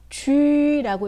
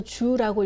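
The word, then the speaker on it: ju: 하지만 이 유는요, 유땡땡 소리를 그대로 살려서 읽어줘야 됩니다. 그래서 쥐라고 읽어야 됩니다. 유땡땡에서 땡땡이 사라졌다고 해서 주라고 읽으면 틀린 발음이 됩니다. 네, 쥐라고 읽어주시면 됩니다.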